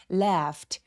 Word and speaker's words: laughed: laughed 할 때는 여기 이 AU 스펠링을 발음을 꼭 확인해 주시는 게 필요한데요. 발음 기호를 꼭 알아두세요. laughed. 여기서 에 소리는 굉장히 길어서 apple 할 때의 에 소리입니다. left 요 GH는 F로 발음되고요. 그래서 무성음 F로 끝났기 때문에 ED는 통틀어서 T로 발음을 한다고 말씀드렸죠. left 아니고 left. 그래서 T로 발음합니다.